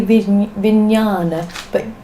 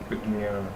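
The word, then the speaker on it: vijñāna: You can say some say vijnana, but that's different schools of pronunciation. The j, like nya, is so slight. That's why often you don't hear the j anymore. Yeah. You know, and you just hear nya, but the j is there just very quietly.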